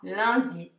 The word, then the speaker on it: lundi: Anche quando avete un, il suono è molto simile a un. Perciò la parola lunedì si leggerà lundi, lundi, un.